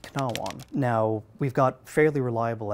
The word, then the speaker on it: cnāwan: in the 10th century, that initial consonant was there, it was spelled C rather than K, and it was pronounced knawon.